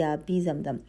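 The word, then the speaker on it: آبِ زمزم: مجہول نہیں پڑھنا ہے۔ جیسے اردو کا تلفظ ہوتا ہے آب زمزم، تو بے والی جو آواز ہے ویسے بے کے نیچے زیر ہوگی آبی زمزم، ٹھیک ہے۔ لیکن اردو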